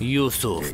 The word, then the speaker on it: Yusuf: Yusuf. That's how you pronounce it.